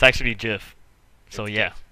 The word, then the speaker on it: GIF: guy uh it's actually Jif so yeah it's Jiff it's GIF the guy that invented it recently said that that's how you're supposed to pronounce it just like the peanut butter nah it's good okay